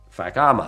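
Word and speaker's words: Fakhama: that's the oud okay okay the next one Fama it's called not a swear word it's spelled f a k h a m a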